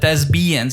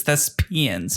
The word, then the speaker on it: thespians: been in uh Horrors thespians did I say that thesbian you said thesbian it's thespians the not a b okay thank you for